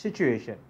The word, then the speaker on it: situation: ඒක TU තිබ්බට situ කියලා pronounce වෙන්නේ නැහැ. It's situation.